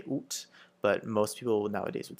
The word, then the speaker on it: août: So you sort of sound like an owl a little bit when you're saying it, so it's août. You can also pronounce it, you'll also hear the pronunciation août with the final T, août. but it's more of a formal thing.